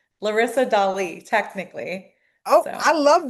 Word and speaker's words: Dali: people ever call you Dali? Yes, and that's actually like the correct pronunciation. But I've just gotten so like I'm like it's Dolly.